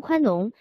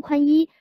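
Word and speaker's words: 宽农: 要讲话时把通商宽农念成了通商宽一，如果讲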